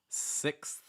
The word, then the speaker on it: sixth: i sound e i make sure it's not ah it's not sex it's sixth sixth and after dex sound is done you wanna move into that th spot okay sixth this is